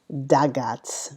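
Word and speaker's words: Dagaz: And it's Dagats. D A G A Z or Z as the Americans say.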